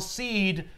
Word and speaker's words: Darkseid: at DC, remember that S-E-I-D will spell seed for the next foreseeable future. I'm sorry, foreseeable future. You don't really need to know that because no one's pronouncing it in your book. It's more that they're... It's just written. Yeah, but at cons and stuff, when you talk about it with fans... Yep, you will say seed and go, no, now